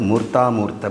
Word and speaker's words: மூர்த்தாமூர்த்த: இதை உச்சரிக்கும் பொழுது மூர்த்தாமூர்த்த பிராமணம் என்று சொல்கிறோம்.